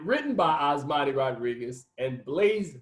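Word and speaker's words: Blaise: by osmani rodriguez and blaze blase i think that's the way you pronounce his name i was gonna say blaze but it looks like blase hemingway and the film begins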